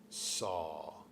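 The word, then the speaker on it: Sau: And with the exhale, saw. It sounds like saw, like s a w, but we spell it s au.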